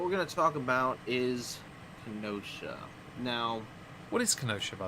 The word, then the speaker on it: Kenosha: okay it's brexit okay it's all brexit it's pronounced kenosha oh you're all right i'm sorry i thought it was connection oh yeah yeah yeah and uh yes i'm